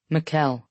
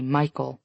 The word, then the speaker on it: Mikuel: Mikuel, he says. People always mispronounce it and say Michael, though.